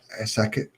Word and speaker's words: Akashic: Is this the Asakit, what's it called, Asakit records? I think it is. Maybe you guys know how to pronounce it. Akashic Akashic, records.